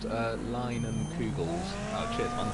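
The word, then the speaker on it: Leinenkugel's: It's pronounced Leinen Kugels. Oh, cheers, man. Leinen Kugels.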